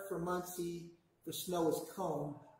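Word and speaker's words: kon: monsieur for snow is comb it looks like k.o but it's pronounced comb it's in that book but k-o-n you can write that down it has an o like the sound of old and actually here we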